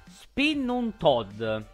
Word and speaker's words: Spinnetod: un po' tostino, Allora, la pronuncia esatta dovrebbe essere Spinnuntod, che deriva dal tedesco spinne, che vuol dire ragno, e tod, che vuol dire morte, quindi vi faccio già immaginare quanto possa essere affettuoso.